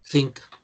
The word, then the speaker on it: think: Porque si no suena la K, pueden confundirlo con cosa. ¿Ah? Recuerden que cosa es thing, think. Termina en G, pero casi no se puede pronunciar. Entonces, para que sepa que yo lo que estoy pensando no soy una cosa, digo think, think.